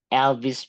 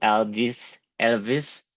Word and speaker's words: Elvis: They were listening to Elvis Presley. Este nombre, pronunciar bien esta V porque es medio tramposa y cuesta pronunciarla, especialmente nosotros los hispanohablantes.